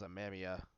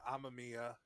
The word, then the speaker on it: Amamiya: they pronounce it because I always thought they pronounce I'm a Mia I thought it was Ameria but I don't know